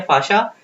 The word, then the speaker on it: fascia: हैं फाशा बोलते हैं, ठीक है, फाशा। या फिर अगर आप लोग कोई जैसे दिल्ली साइड पे पढ़ोगे तो वो लोग फेशिया बोलते हैं, अलग अलग जगह इसको ऐसे बोला जाता है, प्रोनाउंसिएशन का गेम है।